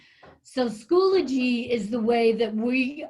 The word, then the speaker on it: Schoology: First, it's pronounced Schoology, like eulogy. So Schoology is the way that we are going to communicate with you.